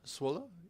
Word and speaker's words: Zwolle: I think you pronounce it Zwolle. Zwolle.